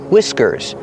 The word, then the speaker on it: whiskers: The H is silent and we use the short I sound like this. Is wiw whi whiskers.